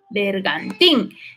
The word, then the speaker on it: bergantín: es una palabra aguda bergantín lleva el acento en la sílaba última en la última sílaba y entonces es una